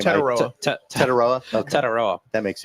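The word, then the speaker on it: Tetairoa: Tetaroa.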